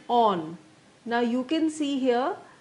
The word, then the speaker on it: awn: is o n on misspelled and mispronounced so that it rhymes with Dawn so basically a w